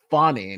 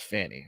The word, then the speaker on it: Fani: stop being racist and pronounce fonnie not Fanny all right that's true